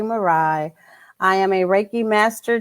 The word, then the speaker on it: Ma'ri: Marie. Marai. Okay. I've been trying to figure out how you pronounce that for like the last 2 days.